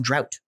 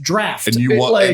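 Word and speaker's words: draught: and be like oh it's on drought it's still pronounced draft it makes me want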